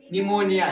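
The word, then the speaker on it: pneumonia: ठीक है, जैसे इधर कहना एन तथा एस से पूर्व आया पी हमारा क्या होगा साइलेंट होगा, अगर एन और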